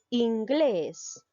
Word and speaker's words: inglés: tipo de palabras son ramón lleva la mayor fuerza de voz en la sílaba mont inglés en la sílaba que les menú en uno es